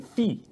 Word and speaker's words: Fe: Ben and I are going to be playing Fee. Ooh. Which is it's spelled F-E.